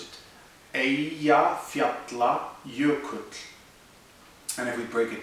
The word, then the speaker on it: Eyjafjallajökull: Now, it sounds like a mouthful, but it's actually three words, and you can break it down into Eyja, which is island, Fjalla, which is mountain, and Jökull, which is glacier.